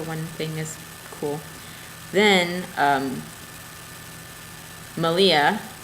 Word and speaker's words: Malia: Then, Malia of the Yarn Raising podcast, Rhymes with Maria, is doing a spin-along